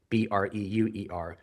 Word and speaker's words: Breuer: Breuer is my surname, Breuer. The challenge with that is it's hard to pronounce, Breuer, and it's very difficult to spell. Is the U a U or a W?